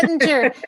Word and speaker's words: Bettinger: Bettinger. I know. Vengadasala. I'm not going to say Bettinger. It's a soft G.